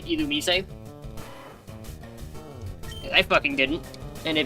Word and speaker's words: Illumise: Fun fact, did you know according to the Pokemon anime, the official pronunciation of Illumise is actually Illumise?